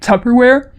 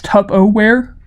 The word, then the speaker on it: Tupperware: wrong my entire life like Tupperware I thought it was tub aware because I didn't know that it would that it like had an r in it here or like CNT